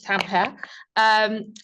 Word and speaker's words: Tampere: Before moving to Tampere, is that how it's pronounced? Yes. Tampere.